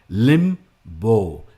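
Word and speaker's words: limbo: और ये जो वर्ड्स हाईलाइटेड है ना, ये जो हाईलाइटेड वर्ड्स है, इस पे आपको स्ट्रेस करना है, लिम्बो।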